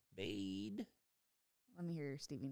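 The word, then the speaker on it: Baade: Do you say it like that when it's two A's? B-A-A-D-E? Bade.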